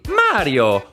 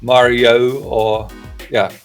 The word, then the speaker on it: Mario: Yeah, he uses the italian pronunciation, and he uses the “ah” vowel which is present in Italian, Dutch, German, Spanish, Portuguese, but unfortunately not in English.